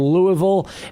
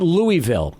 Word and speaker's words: Louisville: You came from Louisville. And by the way, I know it's not Louisville. It's Louisville, right? Is that the correct pronunciation?